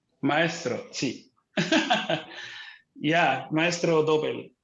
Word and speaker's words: Maestro Doble: Are you really the ambassador of Mexican tequila called Master Doble? Or did you pronounce that? Did I say that right? Maestro, sí. Yeah, Maestro Doble.